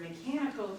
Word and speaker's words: mechanical: So if you take the word mechanical here, the decoding rule for CH would be that that should say ch.